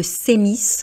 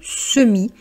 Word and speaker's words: semis: Et vous voyez, même s'il y a un e, on ne dit pas le sé, on ne dit pas le séis, encore pire hein, on dit bien le semi.